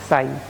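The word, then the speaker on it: psi: और ये है तुम्हारा साई, पी साइलेंट है, साई कहा जाता है।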